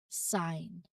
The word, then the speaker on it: sign: If you see GN together at either at the start or at the end of a word, the G is almost certainly silent. So this rule will help you avoid mispronunciations and sound more natural when speaking these words.